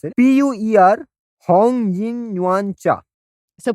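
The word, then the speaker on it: Pu'er: I will spell it first before I attempt to pronounce it. PUER Hong Yin Yuan Cha.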